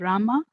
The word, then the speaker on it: Rama: krishna pronounced krishna and rama rhymes with drama are sanskrit words hare